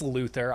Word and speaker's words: Luthor: I say Luthor, it's Luther.